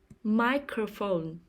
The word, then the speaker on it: microphone: the first syllable crayon microphone microphone the stress is on the first syllable microphone paint brush paint brush